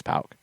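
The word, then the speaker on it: PAOK: And I think you always mispronounced it. But now you got it right. Somebody kept reminding us that it was Pauk.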